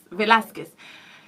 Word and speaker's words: Velasquez: We know that the U is silent when it's used in between Q and E. Yeah, we know that. Velasquez.